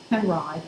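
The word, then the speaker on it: Henri: After studying illustration and then painting, 1900 to 06, with Kenneth Hayes Miller and Robert Penride, which is how he pronounced it, both leaders of the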